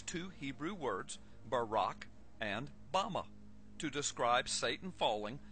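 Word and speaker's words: במה: Strong's Hebrew Dictionary, and it is pronounced Bama.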